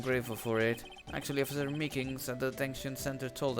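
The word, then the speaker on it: Meekins: for it actually officer meekings at the attention center told us i had that poor little doggie poor guy i keep getting his name wrong and calling him meekly told us something he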